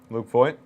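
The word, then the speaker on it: Luke Voit: He pronounced his name right? Luke Voigt? Luke Voigt?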